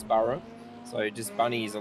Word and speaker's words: Burhop: So the nickname's Burhop, and people couldn't pronounce the name correctly, which is Burrow.